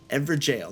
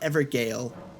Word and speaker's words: Evergaol: Runes, not ruins, Evergaol, not Evergaol.